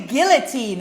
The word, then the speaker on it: guillotine: The guillotine. Okay, so let's practice the pronunciation of this. Guillotine. Jiu-Jitsu, Guillotine. Look at my tongue here when I do the L.